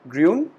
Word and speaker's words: grün: So we call it grün, which is green. Then blue, we pronounce it blau.